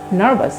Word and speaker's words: nervous: You don't have to কে তারা বলে have to, have to be nervous নয় nervous, যেখানে যেখানে ভি আছে সেখানে সেখানে আমরা বি এর মতো উচ্চারণ করবো, সো nervous.